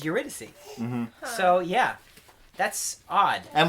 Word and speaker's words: Eurydice: I always thought it was Eurydice, but Yes. then it turns out it is Eurydice.